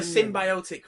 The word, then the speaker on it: symbiotic: It had a symbiotic relationship with him. Symbiotic. Rhymes with idiotic.